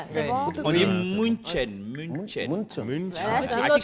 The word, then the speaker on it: München: Chez nous, on dit Munich. Est-ce que je suis dans vocalisme? Non, à Miami, il faut bien prononcer les choses. Munich, c'est Ouais. bon? On dit München.